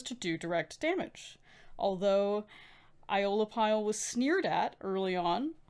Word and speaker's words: Aeolipile: Aeolipile.